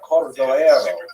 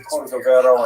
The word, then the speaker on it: Cordovero: his matzeva, his gravestone, it's Cordoero. It's a Portuguese spelling, but it's kind of a strange thing to pronounce in Hebrew, so it was sort of mangled into Cordovero, and that has become the standard, even though it's probably not correct.